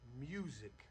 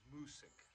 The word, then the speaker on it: Music: This a lot of people call this music garlic. It's not is named after a guy and it's pronounced musk.